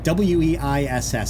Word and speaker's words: Weiss: something like that, and I pronounced it Weeb, and I knew darn right well that I had that one wrong. So I was asking, how is that pronounced, for all you beer lovers out here? And Nomad came to the rescue. He told me that is pronounced as W-E-I-S-S, so Weiss.